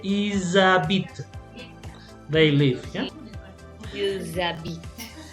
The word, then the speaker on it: ils habitent: Also, if you have an H, remember the H is silent. So even though you have the H, you're gonna join them together.